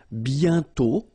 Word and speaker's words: bientôt: And then bientôt, okay? Remember, you put this accent circumflex, but you don't write it. You write it, but you don't pronounce it. And then the final T is not pronounced.